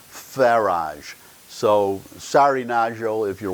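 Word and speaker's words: Farage: I had heard the term before but Nigel Faraj in Britain he is the head of the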